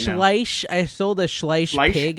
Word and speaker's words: Schleich: it's German, so you have to go Schleich.